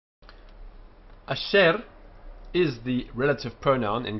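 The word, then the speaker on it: אֲשֶׁר: Asher, only one proper vowel here. Asher, so one syllable. Which, this is a compound shva of the shva attached to the patah, and it's a very short a. This is a very short e. So asher.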